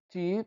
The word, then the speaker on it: te: Nós pronunciamos ti porque ele é átono, né?